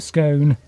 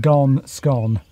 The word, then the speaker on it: scone: No, I think it's bone, scone. Not gone, scone.